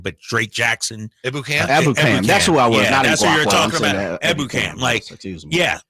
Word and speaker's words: Ebukam: So you had Bosa, Armstead, Kinlaw, and how do you say Samson Ibuka, but Drake Jackson. Ebukam.